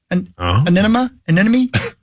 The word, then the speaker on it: anemone: Anemone?